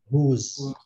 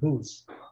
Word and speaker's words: whose: Pronuncia assim, ó. Whose. Mais ou menos isso, tá, gente? Whose.